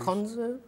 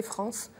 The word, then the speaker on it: Franz: Oui, mais le TZ, c'est pas évident à prononcer quand on est enfant. On dit en plus. Franz. Mais bon, c'est vrai que les enfants, bon, dans mon travail, je vois, ils ont tendance à m'appeler France. Mais bon, je rectifie gentiment.